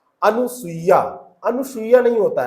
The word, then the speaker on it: अनुसूया: पूछी जा रही है अनुसूया अनुसूया नहीं होता है अनुसूया होता है अनुसूया सुया नहीं होता है अनुसूया की जो मात्रा है इसके यहां पे इस